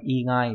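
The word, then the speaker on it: 以外: Dĩ ngoại đọc là igai đúng nhỉ? Igai.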